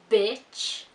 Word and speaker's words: bitch: We have, for example, the difference between beach and bitch. So notice that beach is long and bitch is short.